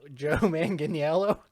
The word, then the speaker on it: Joe Manganiello: very big and muscly john min manganiello yeah joe manganiello i don't know it's a hard one oh